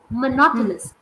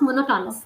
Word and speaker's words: monotonous: me please it's monotonous it's not no monotonous that n Sound monotonous monotonous not monotonous no monotonous Mon it's a